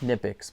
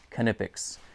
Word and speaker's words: Knipex: name is spelled, you would think that it's pronounced Knipex, but believe it or not, they have officially released on their YouTube and Instagram page that it's pronounced Knipex.